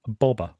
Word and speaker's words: Boba: Well, actually, how it should be pronounced is Bobber. But Bobber. George decided he never wanted to say that back in the day, so it's changed to Boba.